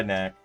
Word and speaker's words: Knack: My guy Knack. Rhymes with Dak.